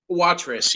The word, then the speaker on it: Watrous: Am I pronouncing the name right, Donny? Watrous, yes.